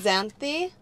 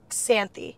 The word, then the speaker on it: Xanthi: matis face right now zany am I saying zany right okay so think of the X as like a KS sany Santi sany oh with